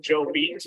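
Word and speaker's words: Jobete: Some people pronounce it Joe Beat, but I guess they actually said Joe Bet back then.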